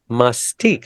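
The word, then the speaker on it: Mastick: senior center Mystique Senior Center how do you spell that it is m-a-s-t-i-c-k Mystique that's an unusual word what does that mean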